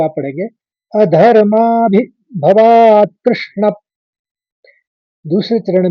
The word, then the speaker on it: अधर्माभिभवात्: अधर्माभिभवात् कृष्ण प्रदुष्यन्ति कुलस्त्रयः स्त्रीषु दुष्टासु वार्ष्णेय जायते वर्णसंकरः।